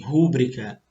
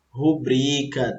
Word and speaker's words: rubrica: penúltima do exemplo, muita gente fala assim, rúbrica, mas vocês estão vendo que não tem acento aí, tá certo? Então, se não tem acento, ela é paroxítona e não proparoxítona. E aí, ó, a pronúncia certinha seria rubrica, tá? E não rúbrica.